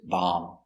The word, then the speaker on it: bomb: Remember, no bee, no bomb, just bomb.